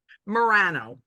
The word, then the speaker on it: Morano: Morirano. Morano, Morirano.